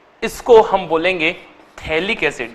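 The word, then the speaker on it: phthalic: तो इसको हम बोलेंगे थैलिक्स याद रखिए प साइलेंट है लिक एसिड और अगर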